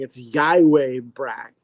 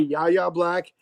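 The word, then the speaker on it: Yahya Black: I'm trying to retrain myself because it looks like it would be yaya black, but that's not it at all.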